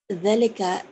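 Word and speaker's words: ذَلِكَ: the mosque whether excellent I note velika is pronounced sorry Delica is pronounced but it is written without alif the word is written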